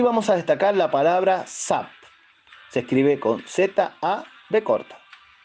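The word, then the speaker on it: Zab: Aquí vamos a destacar la palabra Zap. Se escribe con Z-A-B corta.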